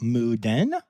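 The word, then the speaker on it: Moo Deng: I'm talking, of course, about Moo Den, which is spelled Moodang, and a lot of people say wrong, and Pesto the penguin.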